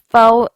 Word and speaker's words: faux: The word fox is pronounced faux and phony.